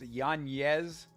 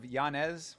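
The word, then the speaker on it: Yanez: myself Adrien yanes I don't know why it's pronounced yanes instead of janz when there's no Accent on the N but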